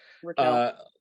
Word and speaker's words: Raquel: But if you learn how to embrace accountability, and it's so funny, Rachel, we were talking about growing up in cold places. Raquel.